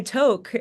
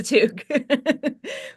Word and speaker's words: toque: um so but but the way it was written on the page like nobody knew how to pronounce it so they were like I got the the dialogue back and he was like oh something about my to and I'm like oh guys no it's a toque we have to go